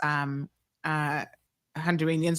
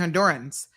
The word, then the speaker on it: Hondurans: But, a lot of Caymanians pronounce Honduras, Honduranians, we say Honduranians, but it's actually Hondurans.